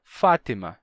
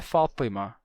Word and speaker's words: Fátima: nome Fátima é árabe Fátima em árabe Fátima com com essa pronúncia tem um som de to to que não tem português ftima com to em português ele é adaptado pra Fátima não F mas Fátima com T normal ou até mesmo com T Fátima dependendo do sutaque da pessoa então mesma coisa né